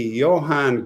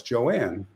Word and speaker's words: Joanne: Hey, Johan. No, it's Joanne, because it's a woman. But it's spelled almost Joanne. It's got to be Joanne, right?